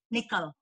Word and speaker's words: Nicol: So, by the way, Christine Nicol, halos magkapareho kami ng apelido nito kasi my family name is actually pronounced Nicol in here.